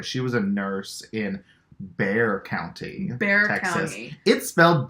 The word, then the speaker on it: Bexar: the know the the bear County that's a hill I will die on though because why would I know that why would I pronounce B exa are as bare it's fine X's are silent